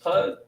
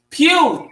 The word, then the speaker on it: Pugh: Ernest Poe, Oh, you um, talking about Ernest Pugh? Pugh. Thank you.